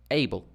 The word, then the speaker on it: able: So this one is able, able, dum-dee, dum-dee, able.